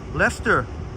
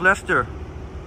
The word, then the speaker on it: Leicester: century walks showing SLS Lester or wait this is Leicester Square and it is pronounced Lester oops I forgot to